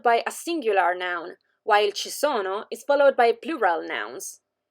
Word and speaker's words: ci sono: sieta brandi and yamo we use che to say there is and chisono to say there are as you can notice our